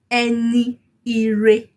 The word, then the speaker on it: Ẹni ire: Can you see that you didn't really hear the E before? Ire. Ẹni re, ẹni re, ẹni re, ẹni re. Like that. Ẹni ire. That is the full pronunciation of it, the full way you would write it down.